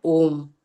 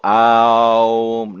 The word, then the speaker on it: Om: So, but you don't go Aum. No, it takes the poetry and the music and the beauty of the Om.